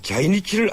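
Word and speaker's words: 在日: 예, 혹시 일본말 자이니치를 아십니까? 이 제일교포라고 할 때 제1의 일본 발음이 자이니치인데요. 바로 제일교포들을 일컫는 말로 쓰이고 있습니다.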